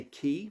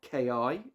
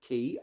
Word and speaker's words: Ki: hobby key 43 note I say key not Ki it is pronounced key apparently uh this is the